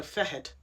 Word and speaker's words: Feithid: So, the fetch, and again, pronounced differently in Gaelic, of course. Let me find it. So, Feithid.